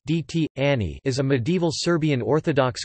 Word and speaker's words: Dečani: Visoki Dečani, Serbian Cyrillic, Visoki Dečani Albanian, Manastiri I Dekanat, or simply Dečani, pronounced DT Ani, is a medieval Serbian Orthodox Christian monastery located near Dečan, Kosovo.